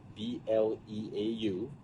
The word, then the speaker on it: Bleau: My name is spelled B-L-E-A-U, pronounced.